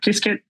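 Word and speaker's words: Qiskit: Um they have their own um SDA uh open source SDK called uh KisKit. um or could be pronounced like 16 different other ways but I think the most common one is Kiskit.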